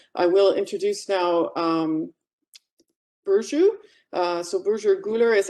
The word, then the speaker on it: Burcu: and also maybe my name is hard to pronounce uh i am boujou and we did this rich research with a